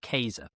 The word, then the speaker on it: Caesar: The name Caesar, of course, now in uh classical Latin, the letter C is pronounced K. So like you said earlier, his name is actually Kaser.